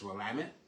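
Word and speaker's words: Willamette: But just remember, anytime you're talking about Wamtt Valley in Oregon, it's Wamut, rhymes with damn it.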